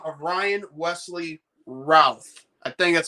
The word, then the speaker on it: Routh: name of Ryan Wesley Routh. I think that's how it's pronounced. Like, instead of saying South, it's Routh, Like Brandon Routh from Superman Returns.